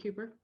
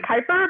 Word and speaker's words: Kuiper: Is it Cooper? It's Kuiper, but he doesn't care how you say it.